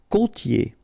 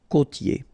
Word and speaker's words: côtier: Okay, so here you get this O, accent circonflexe. You tend to insist a little bit more on it, so it's a bit lower. Okay. Côtier. Okay. I-E-R here. Ye.